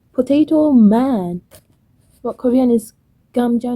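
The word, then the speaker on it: 감자: But Korean is gamja, namja. I still don't get it. Make sure you pronounce the gamja when you want to say potato, or namja when you want to refer to a man.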